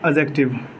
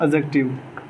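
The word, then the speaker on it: adjective: Third होता है आपका एडजेक्टिव, इसमें डी साइलेंट होता है, इसको पढ़ते हैं एडजेक्टिव। क्या पढ़ते हैं? एडजेक्टिव।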